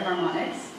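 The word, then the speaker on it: HarmOnyx: Onyx it's it's a it's spelled harm and then Onyx so the word play there harmonics uh lerio vocal and sound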